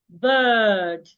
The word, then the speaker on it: bird: So when you want to say it, you have to make it long. Bird and not bed.